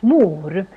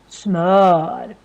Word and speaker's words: smör: at first time, then maybe you think, oh, it's pronounced smör. But no, these 2 dots on the top, that makes a completely different letter in Swedish. And we also have different sounds of the if you have watched our previous videos. But here it becomes really long because we have just one consonant coming after. So that's why it's pronounced as smör.